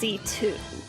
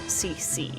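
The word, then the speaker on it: C.C.: for for her name is pronounced C2 not CC right C2 is an immortal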